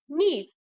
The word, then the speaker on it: knees: देखो ये नी की स्पेलिंग है, नी में यहाँ पे के साइलेंट होता है, तो KNEES, नी।